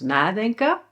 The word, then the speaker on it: nadenken: Well, all separable verbs always, always, always have the stress on the first part, such as: "NAdenken" (and we'll see more